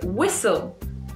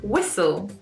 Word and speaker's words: whistle: So whistle, whistle. It's a strange word, this one, whistle. We don't really pronounce the H, so we, no H there.